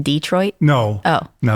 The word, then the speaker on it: Detroit: is that correct pronunciation Detroit no oh no it's Detroit it's actually a French word Detroit Detroit Detroit it's